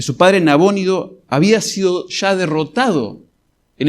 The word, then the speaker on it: Nabónido: Y probablemente ya sabía que su padre, que Nabónido, se pronuncia en español, que su padre Nabónido había sido ya derrotado en el norte de Babilonia.